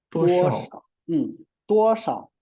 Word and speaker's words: 多少: 诗凹烧多少多少 So when you pronounce neutral tone, it's soft and very short. 多少 right? You know, if it's only one character, single character, usually it's a third term. 诗熬少 or 诗凹少, usually it's a third term, but when we place together with 多, it changes into neutral tone.